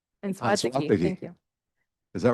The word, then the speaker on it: Anzuategui: Anzuategui. Anzuategui.